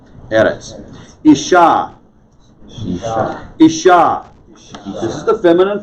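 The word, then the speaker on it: ארץ: think that's important errants notice the accent is above the olive in eric's right that's why the accent is on the first syllable eres isha this is the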